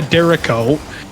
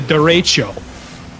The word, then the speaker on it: derecho: But unfortunately, no, Crispy, it is not the Derico, it is the derecho.